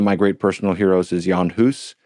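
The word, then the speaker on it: Jan Hus: Um, one of my great personal heroes is Yan Hus, sometimes pronounced John Hus.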